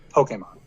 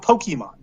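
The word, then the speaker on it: Pokémon: out first of all it's pronounced Pokemon not Pokemon Pokemon accident above the EE Pokemon but the amount of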